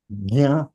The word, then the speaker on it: ज्ञान: ज्ञान. ज्ञान. ज्ञान. ज्ञानेश्वर. ज्ञानेश्वर कर. ज्ञानेश्वर. ज्ञान. हाँ, वो जो है वो ग का साउंड आएगा बिकॉज ऑफ द अनुनासिका.